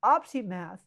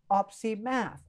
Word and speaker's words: opsimath: So we can just say the word OpsiMath, OpsiMath, three syllables.